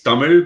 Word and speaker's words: Tamil: Actually, it's Tamil, but nobody can pronounce it because it's cuz it's a weird L.